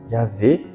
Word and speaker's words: Yahvé: Donc il y a certaines traductions qui traduisent ce mot comme Yahvé. Donc le Y, Ha, le Wav, le Vav devient un V, Yahvé.